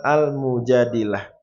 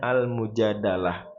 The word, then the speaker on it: Al-Mujadilah: Surah Al-Mujadilah. Boleh juga dibacanya almujadalah. Boleh.